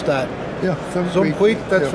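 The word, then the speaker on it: Suum cuique: How do you pronounce that? Yeah, Sum Queek.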